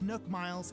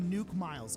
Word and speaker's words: Nook Miles: of currency known as nuk miles and no it's not pronounced Nook miles it's pronounced nuke miles okay shut up I'm